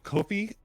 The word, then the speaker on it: Ko-fi: Kofi, it's pronounced Ko-Fi.